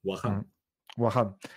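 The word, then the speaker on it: Wakhan: Como si fuese una J. La H se pronuncia como una J. Wahan.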